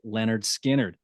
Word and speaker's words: Lynyrd Skynyrd: tonight's album and that is the recording of pronounced Leonard skinnard so the band goes into the studio on